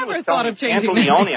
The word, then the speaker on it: Pantoliano: Joey Pantoliano. Pantoliano, right? Yeah. Have you John ever was thought of changing Pantoliano. I said, no, that's not right. Pantoliano. It's spelled with an O.